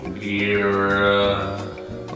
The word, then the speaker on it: birria: We are looking at how to pronounce birria. Birra.